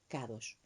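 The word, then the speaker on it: קדוש: palabra 69 18 y se pronuncia kadosh que significa consagrado dedicado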